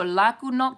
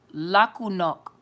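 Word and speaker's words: laku noć: it down okay so la ku knock did I pronounce it right la ku knock say la ku no that's good night in croatian okay super croatian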